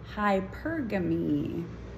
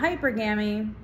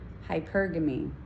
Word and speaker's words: hypergamy: so yeah that's all it's hypergamy not hypergamy hypergamy got it all right